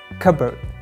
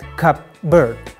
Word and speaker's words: cupboard: first one is cover cupboard not cup bird the pill letter is silent and cupboard cupboard in writing we write the pillar but in pronunciation we don't American English is all